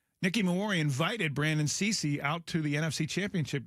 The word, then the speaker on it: Cisse: It's spelled c i s s e, but it's pronounced Cisse.